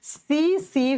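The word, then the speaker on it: tsetse: सी सी फ्लाई लिखा जाता है टी से। प्रोनाउंस करते हैं एस से।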